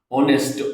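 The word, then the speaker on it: honest: ऑनेस्ट ऑनेस्ट के अंदर एच जो है वो साइलेंट है।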